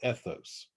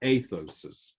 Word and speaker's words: ethos: And that's where what we call ethos, okay? Or athos, however you want to pronounce it, athos or ethos, okay?